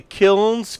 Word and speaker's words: kilns: of interesting ceramics display am i pronouncing it right to say the kilns kil and s the kilns of Alfred is at the pronunciation yes it is and it's